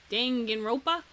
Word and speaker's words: Danganronpa: Oh, I was talking about You're how do you just gonna- pronounce Dangan rope Dongan Rumpa? Rumpa? How do you say it? Something like that. Danganronpa.